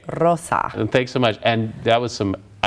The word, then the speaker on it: Rosa: Got to roll your R, right? Rosa.